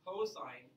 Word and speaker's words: cosine: We are not going to pronounce that cos, though. The only time you should ever be saying cos in here is if you're saying my name and saying Mr. Cosol, finishing that out. But we'll say cosine of angle A.